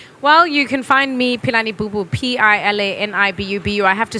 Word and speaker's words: Pilani Bubu: that bunch of folks think that there's an h in my name and quite often they put an h in my name and that isn't there because my grandfather didn't think it necessary phonetically yeah so p-i-l-a-n-i-b-u-b-u that's on